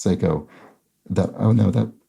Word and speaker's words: Seiko: Seiko Watch 2 although it's pronounced Seiko as opposed to Psycho West don't know why